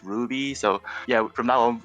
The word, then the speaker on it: RWBY: Even though RWB is kind of horrendous to say out loud, so they added the Y to make it easier to pronounce Ruby.